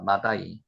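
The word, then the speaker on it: מדי: 셋째가 마다이입니다.요 읽 때 마대를 요거대로 읽으면 마다이입니다. 마다이.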